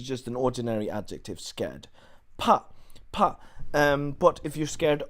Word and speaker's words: 怕: Okay, so pa is how we pronounce it.